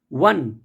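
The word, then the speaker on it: one: अब देखिए यहाँ पे ओ है लेकिन इसका प्रोनाउंसिएशन वाह है, वाह, वन, यानी वी के प्रोनाउंसिएशन से मैच कर रहा है ओ का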